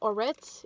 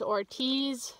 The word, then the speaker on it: Ortiz: said the name wrong i thought it was orits it's ortiz so number 34 i believe